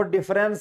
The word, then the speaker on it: deference: अब देखो यहां पे लिखा है डिफरेंस, भैया देखो डिफरेंस एक होता है DIFFERENCE, उसका मतलब होता है अंतर, लेकिन भैया यहां पर DI नहीं है, स्पेलिंग ध्यान दीजिएगा।